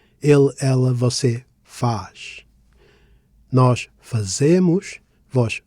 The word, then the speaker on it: fazemos: Fazemos and fazeis have three syllables, and unless there is a graphical accent, the stress naturally falls on the penultimate syllable, the one before last. Thus, we stress z, fazemos, fazeis.